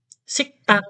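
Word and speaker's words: 식당: bunyinya t Kenapa karena kalau kita nulis sigdang tulisannya begini sik Dang membacanya apa sik tang berarti kena ini cek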